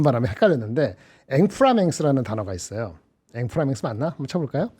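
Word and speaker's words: inframince: 앵프라맹스 맞나? 한번 쳐볼까요? 엠프라맥스? 앵프라맹스 맞을 겁니다. 프랑스 발음인데 아주 미세한 차이.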